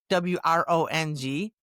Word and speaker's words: wrong: Wrong, W-R-O-N-G, to not be correct is to be wrong, W-R-O-N-G, can't hear the W.